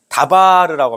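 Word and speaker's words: דבר: 자 말씀에 이제 해당하는 이제 히브리어로 말씀은 뭐냐면 다바르고 합니다 다바르 다바르 들어보셨죠 다바르 발음이 중요합니다 뭐라고요 다바르 예 그게 뭐냐면 사막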